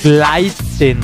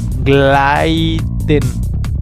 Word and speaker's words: gleiten: Gleiten. Gleiten. Gleiten significa deslizarse. Se escribe gleiten, pero se pronuncia gleiten. Porque cuando la letra E va antes de la I, se pronuncia como A.